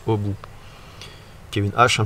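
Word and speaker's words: Aby: Ça s'écrit A-B-Y. Je crois que chez eux, ils prononcent au bout.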